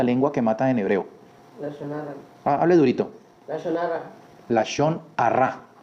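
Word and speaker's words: לשון הרע: La shonarra. Hable durito. La shonarra. La shonra o la shon jara. Algunas personas dicen la shon jara.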